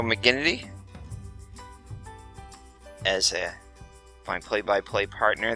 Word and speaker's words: McGinnity: right so I guess apparently pronouncing it wrong it was Joe it's Joe mcin not Joe mcin which makes sense there's an i there n so Joe mcginnity as a my play-by-play